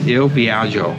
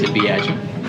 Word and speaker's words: Il Viaggio: So the way to pronounce this restaurant is Il Viaggio. Is that correct? Yes, it's Il Viaggio.